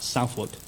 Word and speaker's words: Southwark: The next thing we know is happening is at the Gladstone Arms, which is in Southwark, is how it looks, but people say it's pronounced Southwark or something.